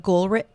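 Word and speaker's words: Goolrick: favorite book is called uh it's a Robert gulrich and it's spelled g-o-o-l-r-i-c-k so he's only had a couple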